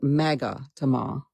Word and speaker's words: magatama: They're called magatama. I looked it up and had Google pronounce it for me today.